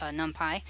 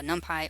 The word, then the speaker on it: NumPy: and saw the latest numpy by the way this can be pronounced either there numpy or numpy that's short for numbers for python and the reason that